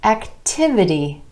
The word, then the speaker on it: activity: 2 syllables, emphasis on the A vowel sound in the first syllable, becomes activity, activity. Our stress shifting to the I vowel sound in the second syllable, right before our word ending, activity.